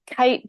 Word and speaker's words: KAIT: see that the um kite building so it's spelled k AI t uh from ishigami is